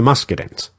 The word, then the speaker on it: Muscadins: These were the Muscadins, and I'm going to use the conventional English pronunciation for that.